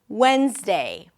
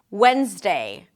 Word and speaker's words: Wednesday: This word is spelled in a very confusing way, but the pronunciation is pretty simple.